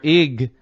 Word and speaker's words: Ige: I mean, the governor Ig or In? What is it? In or Ig?